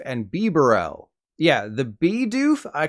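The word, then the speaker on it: Bibarel: I could let slide but be Burrell instead of barrel like the only interesting part of The Hobbit trilogy you say the last part like you're cold be Burrell or I guess kind of like the dad from Modern Family Ty Burrell speaking of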